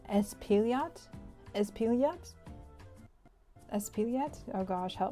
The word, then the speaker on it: Espaillat: Espaillat? Espaillat? Espaillat? Oh gosh, help me God. How do you say this? Espaillat.